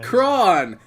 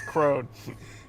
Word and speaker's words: Crown: remember his name like oh cron that's not how you say my name oh right it's Crown it changes like once